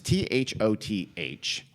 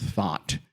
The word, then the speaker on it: Thoth: There's this idea of because there was, I think it was pronounced as Thoth, and I think it's pronounced Thought, one of the ancient Egyptian gods who was a god of magic.